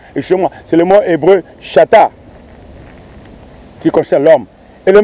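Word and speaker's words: שתה: Et du mot grec, ce verbe qui s'écrit, qui se dit chata, C-H-A-T-H, qui est cité bien sûr 125 fois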